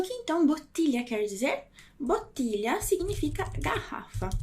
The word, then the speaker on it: bottiglia: É a palavra bottiglia. Bottiglia.